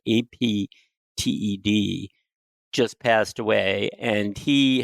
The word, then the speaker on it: Apted: What is on my mind is that the British director Michael Apted, and I think that's how it's pronounced, Apted, just passed away, and he has directed a number of movies.